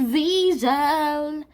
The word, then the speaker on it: Wiesel: Oh, it's spelled Weasel, but it's pronounced Wiesel.